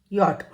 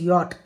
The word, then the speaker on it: yacht: It it travels on water yacht and you it's not yach or something like that. It is yacht. Y a c h t.